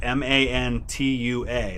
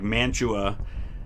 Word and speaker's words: Mantua: But we have up near Cleveland a town called Mantua, which is spelled M-A-N-T-U-A, like Mantua, Italy. Only they pronounce it Mantua.